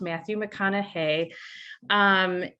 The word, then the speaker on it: Matthew McConaughey: His name is pronounced Matthew McConaughey.